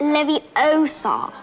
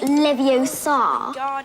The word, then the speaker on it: Leviosa: someone's eye out besides you're saying it wrong it's Levy osar not Levar you do it then